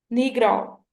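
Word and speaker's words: Negro: Produce pronounce नहीं करना, इसको आप लोगों ने प्रोनाउंस करना है नीग्रो। रॉ का जो प्रोनाउंसिएशन है वो लास्ट में आनी चाहिए, ठीक है। नीग्राओ, इट इज नॉट नीग्रू और नेग्रो, ठीक है, इट इज नीग्राओ।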